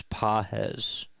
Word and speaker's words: Pages: They were like, you've said it wrong like 12 times. It's Pajes.